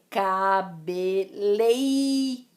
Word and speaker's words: cabeleireiro: em vezes trouxe cabeleireiro cabeleireiro é cabeleireiro existem dois is aí nos dois ditongos são ditongos cabeleireiro certo outro exemplo exemplos